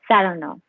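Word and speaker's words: Saranoff: him round this way he pronounces the name with the stress on the second syllable saranov yes so you must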